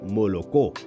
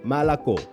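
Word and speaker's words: молоко: Por ejemplo, leche ya no se dice molocó, sino malacó.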